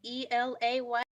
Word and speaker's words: Elay: All right, hey world, it's me, Elay, Elay, pronounced like the city.